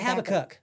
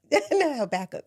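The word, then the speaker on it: Habakkuk: That's how you say it. Yes. I always said Habacook. Habach.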